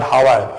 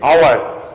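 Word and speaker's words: hour: word were saying not hawa you are saying our this is our this is a our and this is honest so you are pronouncing it with the vowel sound not the consonant sound only for this as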